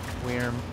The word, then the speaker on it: Wyrm: Wyrm, like worm, but it's spelled differently.